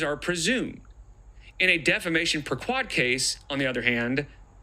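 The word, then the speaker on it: per quod: And I looked up how to pronounce that, and it is per quad. unless Google is wrong, it's per quad.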